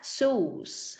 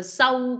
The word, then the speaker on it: shoes: Cái từ shoes này, mặc dù nó là âm O, nhưng mà chúng ta sẽ đọc như là âm U vậy đó, shoes. Ha. Chứ không có đọc là sâu, cũng không đọc là size nha, sai nha, shoes.